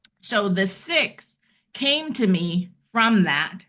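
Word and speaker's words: SIIX: So, it's called the six, but it's the Speaking Industry Expo. It's spelled with an X, so it's S IIX.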